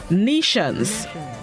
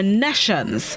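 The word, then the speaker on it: nescience: This morning's word of the day is nations or nations.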